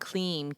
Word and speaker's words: Kleem: So let me tell you about the seed sound Kleem, K-L-I-M, pronounced K-L-E-E-M.